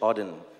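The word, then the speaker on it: Auden: of a poem from wh Odin that's how you pronounce it so I wish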